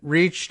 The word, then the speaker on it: Reich: well I was Robert is it reached does he say Robert reach I'm still not 100 sure about whether he says I mean spelled like Reich but I'm sure nobody